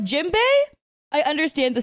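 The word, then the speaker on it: Jinbe: like like for like jimbe I understand the spelling that they did because like they say like n as an M when they say his name so I totally understand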